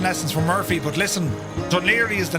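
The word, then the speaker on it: Dún Laoghaire: That's called Dunlier. Uh, it's always funny when you look at the name of how it's spelled, Dunla Hagrari. H, but Duniri is how you pronounce it.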